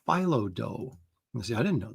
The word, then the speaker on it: phyllo: Yeah, it's pronounced phyllo.